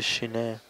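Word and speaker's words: ཞི་གནས: ¿Qué quiere decir Shine? Shamatha. Shine. Quiere decir lo mismo. La segunda sílaba es tono bajo.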